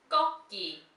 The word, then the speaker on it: 꺾기: 꺾기. Kukkiwon. 꺾기. Now this one is also a tensed G sound at the beginning.